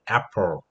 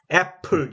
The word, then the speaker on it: apple: 주면 힘을 준다는 건 강세가 오면 A는 에 소리를 내야 된다 하는 기억해 주시고 그에 해당되는 대표적인 단어를 apple로 잡으세요. apple, apple, apple. 알겠죠? 애플 이거는 완전 한국식 발음이고 apple, apple이에요.